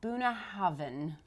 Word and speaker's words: Bunnahabhain: which was really embarrassing because I had been pronouncing it wrong the whole time. So it is actually Bunnahabhain.